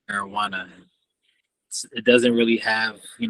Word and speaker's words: marijuana: when you say it it sounds like marijuana and the J is silent but you know that's